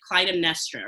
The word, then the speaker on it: Clytemnestra: 2017 fall production of iphigenia and you played clytemnestra right am i pronouncing that correctly oh yeah you are totally